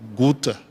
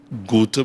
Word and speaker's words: Goethe: And she said, yes, I don't know if it's Goethe, but I think the pronunciation is Gita.